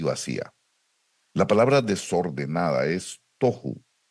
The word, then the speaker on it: tohu: de lo que era el tohu y el boju eh algunas personas le llaman el tahu y el baju pero realmente la pronunciación es una pronunciación hebrea que se refiere y